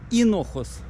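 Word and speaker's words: Hinojos: Поселочек Инохос. Считается как, пишется как Хинохос.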